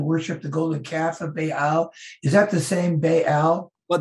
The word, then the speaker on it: Baal: Is that how you pronounce it, Baal? Baal, yeah.